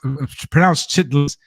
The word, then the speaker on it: chitterlings: Yes, chitlins pronounced chitlins, spelled chitterlings, CHITTERLINGS.